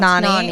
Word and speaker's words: Nani: a cover up or maybe Hit a up Nanny cosplay Bikini. costume Yeah, well, it's Nani. It's pronounced Nani.